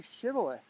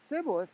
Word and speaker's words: Shibboleth: If he answered no, they said, "All right, say Shibboleth." If he said Sibboleth, because he could not pronounce the word correctly, they seized him and killed him at the fords of the Jordan.